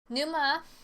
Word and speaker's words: Numa: Numa, yes, that's how you say it, I looked it up, Breath of Life is a great puzzle game.